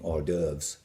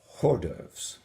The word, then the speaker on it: hors d'oeuvres: And if you wore it to an evening drink session, you would be consuming hors d'oeuvres, not hors d'oeuvres.